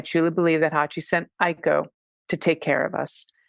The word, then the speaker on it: Aiko: sweet we named her AKO her now oh Aiko pronounced thank you very much for the pronunciation which